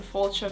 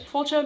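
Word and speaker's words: fáilte: fun, you'll want to know what slancha and fultcha mean. Fultcha uh spelled f a i l t e and I apologize for my Irish pronunciation for those of you who do speak Irish. Fulcha means welcome.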